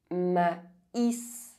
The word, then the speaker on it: maïs: Maïs. With AI, the diuresis on the letter I indicates that you must pronounce each vowel separately.